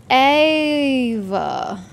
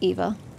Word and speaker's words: Eva: Ava. It's actually Eva.